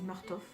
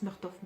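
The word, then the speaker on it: Murtagh: je crois que c'est martov donc je le prononce marteau fait parce que c'est ça finit par g h à la fin et en gros il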